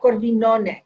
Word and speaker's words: corvinone: amarone and that's uh corvinone did i say it right yes perfectly right coming from the left